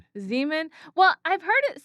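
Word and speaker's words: Xeomin: Zean for the So, we're just we're going to get the pronunciations right. Yes. Yes. So, Zomin is going to be is going to be a just another brand of a neurotoxin.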